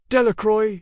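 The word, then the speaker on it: Delacroix: The villagers pronounced this name. Delicroy eventually made a great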